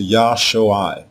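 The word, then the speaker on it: ישועה: When we add the letter Wah, the pronunciation changes to Yah-Sho-I. This is how you say the noun salvation.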